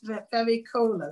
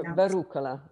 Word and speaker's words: Verucola: Vericola, is it? No, Verucola. Verucola.